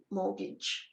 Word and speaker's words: mortgage: It's the meaning that determines the spelling, even though we don't hear the T, mortgage.